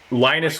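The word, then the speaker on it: Linus: Um I I was just quickly looking up uh Lionus would be probably closer to the pronunciation because the Lionus Toralds who created uh Linux was named after a cartoon character in Peanuts.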